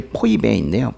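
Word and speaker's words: Φοίβη: 원래 발음은 이제 포이베인데요. 포이베인데 우리나라 그 성경에서는 그냥 포이베를 그냥 베베 이렇게 써놨어요.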